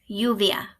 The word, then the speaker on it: lluvia: C's a yeah AEA lluvia when two L's are together they don't sound like an L they sound like a y-you via Doble air a